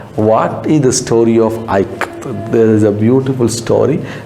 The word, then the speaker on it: Ikat: I will say here I as it is in ka. I as in it. How we pronounce I ka, Ikat.